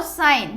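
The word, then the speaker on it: sign: तो डब्ल्यू इज़ अ साइलेंट word. और साइन साइन में जी का कोई नहीं आ रहा है प्रोनंसिएशन।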